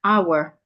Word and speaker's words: hour: in thought right way sometimes when we have letter H at the beginning of a word the H is silent as an honest hour letter H can also